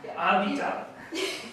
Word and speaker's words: Avital: Avital. Avital. With more of an emphasis on the end. Exactly. Okay. Today, Avital Miller of Avital PG Miller LLC presents Full-Bodied Biz Success.